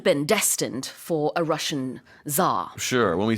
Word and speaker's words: tsar: 그래서 우리가 차르라고 하는 이 황제라는 단어가 영어로는 tsar 이렇게 발음을 하고요.